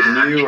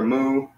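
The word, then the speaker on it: μῦ: Yeah, you could either say mu or moo.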